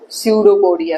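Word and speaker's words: pseudopodia: लेता है खाना अंदर सूडो पडिया से इसमें पी साइलेंट होता है पी की आवाज नहीं आती इसमें जैसे साइकोलॉजी एक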